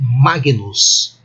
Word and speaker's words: Magnus: E se eu usar a pronúncia clássica ou reconstituída, eu devo ler assim, Magnus. Igual neste caso específico, igual à pronúncia tradicional, Magnus.